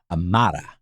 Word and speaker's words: Amarja: And she said that in Amarja, it should land in the second, the emphasis in the word should land on the second A in the mar. Oh. So Amarja.